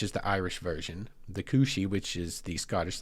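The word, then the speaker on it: cù-sìth: it's kind of gaic in origin but you pronounce it cushi and anyway the cushi is a mythological ical hound that is feared as a harbinger of death.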